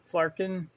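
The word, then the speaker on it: Flerken: go over her other accessory the flagged in flarkin that's how you say it it's got a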